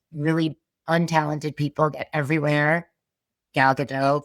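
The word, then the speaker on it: Gadot: Galado for example or Gdat, which I think is really how you say her name.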